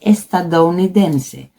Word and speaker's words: estadounidense: although we have one word where OU sounds, and that is estadounidense.